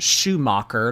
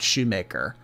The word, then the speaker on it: Schumacher: My last name is pronounced Schumacher, not Shoemaker.